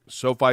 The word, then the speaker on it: SoFi: and I don't know if I'm going to pronounce it correctly or not, Derek, Sophie Stadium.